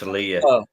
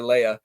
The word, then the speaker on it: Leia: Solo but no don't tell her that both pronunciations are it's like caramel and Carmel or or Leah and Leia no it's Leah but yeah my dad insists on calling her Leia um and when people say oh hey have